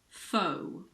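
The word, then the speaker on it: faux: with a silent X the most common one is probably foe foe it comes from French the same goes for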